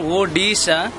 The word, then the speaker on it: Odisha: According to Odia pronunciation, Odisha, and so O means O is the correct.